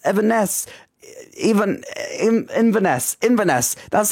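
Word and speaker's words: Inverness: Eden C Highlands evess even even in vaness in vanesse that's how you pronounce it norwi Theater Royal Marlo theater Canterbury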